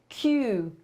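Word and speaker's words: queue: słowo uwaga is there A pisze się tak q u e u e wzięłam sobie sprawdzić żeby wam źle mi powiedzieć chwila zwątpienia czy to naprawdę może być aż tak niedorzeczna pisownia może być kółe A czyta się przynajmniej się łatwo czyta czyli kolejka q ale pisze się dlaczego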